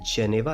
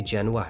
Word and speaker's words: Genoa: کے ساحلی شہر جینوا، یاد رہے یہ جینیوا نہیں بلکہ جینوا ہے، جس کے سپیلنگ GENOA ہیں، میں پہنچ جاتا تھا۔ جینوا